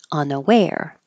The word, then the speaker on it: unaware: hold the K reluctant unaware the stress is on the end unaware umpire the stress is